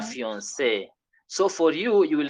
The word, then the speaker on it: fiancée: And we are told the pronunciation remains what? The same. So le fiancé becomes la fiancée. La fiancée.